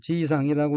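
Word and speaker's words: 爺さん: 둘째 줄 두 번째 어휘의 한자는 한국어로 아버지 아자이고 일본어로는 지이상이라고 읽고 지이상은 남자 노인을 허물없이 부르는 말, 즉 할아버지란 뜻의 명사입니다.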